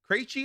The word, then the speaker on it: Krejci: Krejci, I think is how you pronounce it.